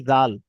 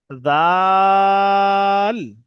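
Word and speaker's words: ذال: জিভের আগা উপরের দাঁতের আগার সঙ্গে ঠেকিয়ে উচ্চারণ করার চেষ্টা করবেন, এই জাল, জাল।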